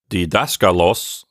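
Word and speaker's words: διδάσκαλος: And here, the accent is in a completely different place than in georgos. So it's good that we have the accent marking to tell us where to put the stress syllable for this word.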